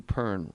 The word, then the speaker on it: Pern: Matthew Pern, rhymes with burn.